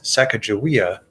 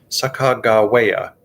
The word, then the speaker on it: Sacagawea: become america's youngest explorer captain clark wrote that the great object was to make every letter sound in recording indian words in their journals the pronunciation of sacagawea's name in years since the expedition as sacajawea does not match sakagawea the way that the captains recorded the young shoshone woman's name in fact her